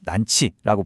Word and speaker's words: 런치: 특히 백화점 식당에서 파는 한정판 런치, 당시 발음으로 난치라고 불렀는데, 이걸 먹는다는 건 나 좀 잘 나가는 사람이야 하는 새로운 라이프 스타일의 징표 같은 거였죠.